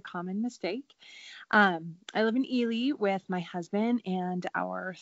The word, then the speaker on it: Ely: name is Kristen and I live actually it's pronounced Ely Iowa but that is a common mistake I live in Ely with my husband and our three kiddos who